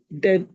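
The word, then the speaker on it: debt: तीसरा पॉइंट जो यहाँ पे आपने क्लियर करना है, ये डेप्ट नहीं होता, बी इसमें साइलेंट होता है. अच्छा। तायरा डेट।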